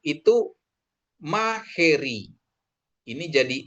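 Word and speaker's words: μαχαίρι: Terus alfa ketemu Yota, bacanya jadi E, itu maheri. Ini jadi E bacanya. Bukan mahairi, tapi maheri. Ya. Atau kadang disebut makairi gitu ya. Makairi, tapi kurang pas ya. Dia maheri gitu ya.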